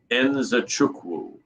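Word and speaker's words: Nzechukwu: the prelims we have a fight between kennedy zajuku is that it actually he's been on my show twice and i remember he told me because i asked him it's properly pronounced enzochukwu and okay that's how we pronounce it everybody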